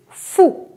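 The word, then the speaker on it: fou: one is Oh F or you this is foo foo is crazy we say dear fool - fool are you crazy right so it is true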